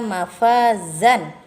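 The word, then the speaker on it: مَفَازًا: Innalil muttaqina mafazan. Maka akan dibaca innalil muttaqina mafaza. Nah, 2 harokat.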